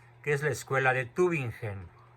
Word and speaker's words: Tübingen: otra ciudad alemana, que es la escuela de Tübingen. Y para estos señores, cuya corriente funda ese señor Bauer en Tübingen, Alemania, Jesucristo es tan solo un símbolo. No, Tübingen, no Tübingen.